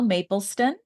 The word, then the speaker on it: Mapleston: Today, my special guest is Pascale Mapleston. Mapleston, did I pronounce it right?